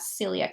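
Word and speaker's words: coeliac: is also known as Celiac sprew Gluten Sensitive enteropathy and a spelled differently with an O but still pronounced Celiac in the UK so let's take a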